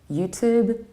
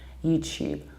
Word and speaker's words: YouTube: and you will hear YouTube, which is actually a typical British pronunciation. Because in British accents, we tend to palatalize T and we pronounce the word like tube, YouTube, tuna, student.